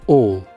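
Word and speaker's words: awl: the all or is is it actually pronounced Al or Al or how do you even pronounce that how do you even pronounce that and all viewers that's how it's pronounced well at least according to Google all and all a small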